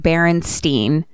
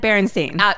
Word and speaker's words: Berenstain: Which there's no world where I was ever saying Berenstain.